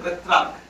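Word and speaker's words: Petrarch: দেখতে পাচ্ছেন উচ্চারণটা কেমন হবে এর উচ্চারণটা হবে উচ্চারণ প্রেত্রা উচ্চারণটা প্রেত্রা এটা মানুষের নামটা ইনি প্রথম চালু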